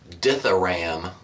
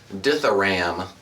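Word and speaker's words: Dithyramb: of the band was diaram d t h y r a m b it has silent B you young intellectual diam cuz I guess if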